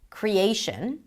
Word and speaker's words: creation: So for example, in the word creation, the A is the primary stress.